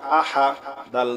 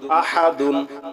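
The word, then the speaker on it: أَحَدٌ: পেশ হু কুলহু আল্লাহু হামজা জবর আ হা জবর হা আহা দাল দুই পেশ দুন আহাদুন থামলে হবে আহাদ ঠিক আছে কুলহু আল্লাহু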